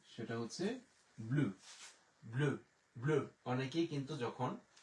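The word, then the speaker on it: bleu: সেটা হচ্ছে ব্লু, ব্লু, ব্লু।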